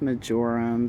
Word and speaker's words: marjoram: thyme, I think marjoram. Okay. I think it's pronounced majorum, but whatever.